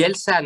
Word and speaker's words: Elsan: Nous, on dit Elsan. Hein. Tu dis Elsan? Ben, ah oui, bon, nous, on prononce comme Elsa.